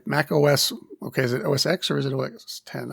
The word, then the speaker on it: OS X: pronounce that OS X 10.10 is that correct uh officially it is you are supposed to say uh Mac OS 10 uh you are supposed to say 10 not X but uh everybody so